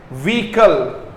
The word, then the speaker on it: vehicle: व्हीकल, याद रखना, व्हीकल ऐसे होगा दोस्तों, व्हीकल। इसका प्रोनाउंसिएशन जरूर याद रखना, व्हीकल, व्हीकल, ई का साउंड आएगा, व्हीकल, व्हीकल।